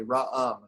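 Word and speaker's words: רעם: That's a bit tricky because you have the ayin at the end of the word without a vowel. It's silent. Right. So that's just a 1-syllable word.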